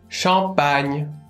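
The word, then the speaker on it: champagne: いますちなみにシャンパンはショパンが正しい発音ですよさてもっと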